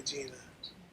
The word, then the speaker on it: Jena: With it, it's J-E-N-A, Gina. That's pronounced Jenna.